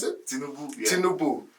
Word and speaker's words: Tinubu: Is that how you pronounce it? Tinubu.